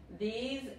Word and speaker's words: these: These, este S se pronuncia más como la Z en inglés, ok?